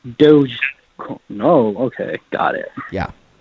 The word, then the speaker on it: Doge: Well, first of all, you're not even pronouncing the coin correctly. It's Doge. Dogecoin. Doge. Doge. Okay.